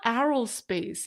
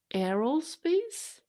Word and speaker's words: aerospace: stream so is it it's not Aros space it's Arrow space like hair arrow is it Arrow